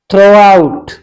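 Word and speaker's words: throughout: हम पढ़ेंगे थ्रो आउट जी H silent रहेगी यहां पर इसे हम क्या पढ़ेंगे थ्रो आउट the week all said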